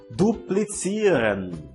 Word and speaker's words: duplizieren: Duplizieren. Duplizieren. Que significa duplicar. Note que a pronúncia da letra Z no alemão, na maioria dos casos, tem som de TS no português.